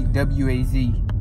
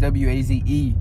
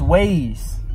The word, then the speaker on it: Waze: If it was waz, it would just be waz. But it's waze. The E at the end makes the A, I think, like a hard A or something, they say. Like a certain way you pronounce the A. It makes it A and not ah. It's ways. You know what?